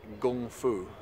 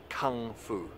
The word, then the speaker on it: gongfu: context into that so that Gong is the same gone in gongfu or often popularly pronounced kungfu there's there's a little